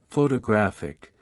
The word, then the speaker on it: photographic: For example, in the word photograph, the stress is on the first syllable, while in photographic, the stress shifts to the third syllable.